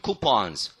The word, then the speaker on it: coupons: B-O-S-S라는 단어랑 똑같아요.